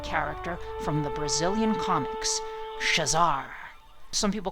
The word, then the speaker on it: Shezar: from the Brazilian comics shazar some people call her she's are some people call her shazar I believe it's pronounced shazar like Shazam but with an AR at the end so the Portuguese language